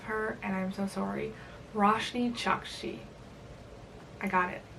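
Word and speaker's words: Roshani Chokshi: Roshni Chakshi.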